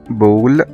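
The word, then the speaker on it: ball: طب تعالى ناخد أمثلة كده على الكلام الجميل ده، مثلا زي ما قلنا من شوية كلمة بول بول يعني كرة B A L L، هنا الـ A اتنطقت O.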